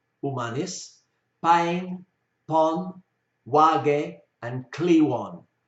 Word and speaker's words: Kliwon: Umanis, Paing, Pon, Wage, and Kliwon, quite often pronounced as Cleon.